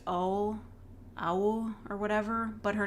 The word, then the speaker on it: OwO: And her name is, like, pronounced Owl, or whatever, but her name is spelled capital O, lowercase w, capital O. Her name is literally Owo.